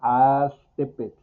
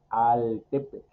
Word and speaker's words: Aztepec: Aquí, por eso yo dije Aztepec y no dije Altepec.